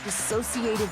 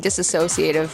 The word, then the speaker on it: dissociative: Dissociative identity disorder. Oh, geez. That's embarrassing. I was saying it wrong. I was saying disassociative.